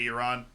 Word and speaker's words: Iran: how are you doing why do Americans pronounce Iran as Iran that's just an American I don't know I think a lot of Americans don't even know they're saying it wrong now I do try and say countries the right way at least like I do so I just I try to say you're on um but yeah uh